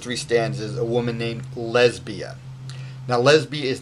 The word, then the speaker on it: Lesbia: So in this particular case, Catullus calls her Lesbia because Lesbia, like Clodia, is three syllables long, starting with an accented long syllable, right? So da-da-da, right?